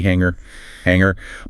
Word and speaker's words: hanger: Like a clothes hanger. Remember that nasal mm sound? No hard G hanger.